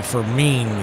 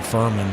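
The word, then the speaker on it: Fermin: Jose Fairman, the I think it's actually Ferine is how he pronounced. I was looking it up at the break. Always called him Ferman because it's spelled exactly like the Furman kid that used to catch for Kansas City.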